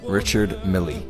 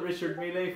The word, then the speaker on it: Richard Mille: doing this on purpose pateka felipe patek philippe richard milley richard mill you called it richard milay for a while noah never richard milay richard